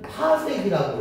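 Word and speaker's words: parsec: 별까지의 거리를 PC 읽을 때는 파색이라고 읽어.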